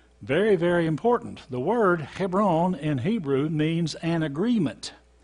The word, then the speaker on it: Hebron: okay we're going to learn about heparin or heparin see h-e-b ' rwn heparin we called it hebron here in east tennessee and they call it here on heparin over there in israel heparin is one of